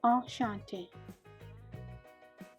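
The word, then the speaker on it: enchantée: Enchanté. That means nice to meet you. If you are female, add an E at the end, but pronounced the same.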